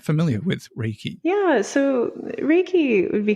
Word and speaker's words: Reiki: Reiki. Reiki.